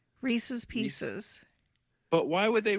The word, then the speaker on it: Reese's: come over there it's it's really not received pieces it rhymes with pieces reese's pieces but why would